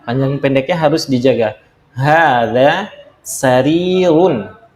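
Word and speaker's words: سرير: Hadza sarirun, ini ranjang. Nah, ini juga sama, panjang pendeknya harus dijaga. Hadza sarirun. Sarirun, harinya yang panjang ya.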